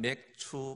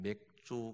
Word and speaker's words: 맥추: 오늘은 맥추 감사주일입니다. 발음을 잘 하셔야 됩니다. 보리맥자 추수할 추자를 써서 맥추 감사주일, 발음을 잘못하면 맥주 감사주일이 되어버립니다.